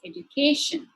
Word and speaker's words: education: Likewise, if the suffix is tion, sion, or ic, the stress shifts to the third syllable, which is education.